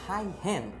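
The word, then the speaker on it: Huygens: আসলে ঠিক না কারণ উনি একজন ডাচ বিজ্ঞানী আর উনার নামের এই জায়গায় একটা হাইফেন হবে তো একচুয়ালি উনার নামটা অনেকটা উচ্চারণটা এরকম হাই হেন তো উচ্চারণ পড়াটা কঠিন বলে আমরা সহজেই হাই হেন হিসেবে ধরে নেই তো আমি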